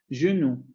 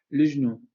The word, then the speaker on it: le genou: bien en términos prácticos, esto tendría que silabificarse así, genou, genou, genou, claro, aquí con la media central, ¿no? Pero como la regla la desaparece, entonces genera una resilabificación de la estructura, porque esa consonante que pertenece a la segunda palabra pasa a formar parte de la sílaba de la primera palabra. Lujnu, lujnu, lujnu.